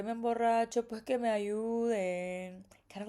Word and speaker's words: ayuden: Even the Y in ayuden, we pronounce it a little bit more. You know, in Mexico we say que me ayuden, but he says que me ayuden.